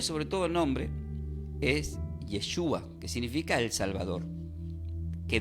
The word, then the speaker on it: Yeshua: O sea, el nombre, sobre todo el nombre, es Yeshua, que significa el Salvador, que del griego es pronunciado como Jesús, pero del hebreo es traducido literal como Yeshua.